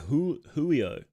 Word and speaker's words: Giulio: Pronounced like Julio.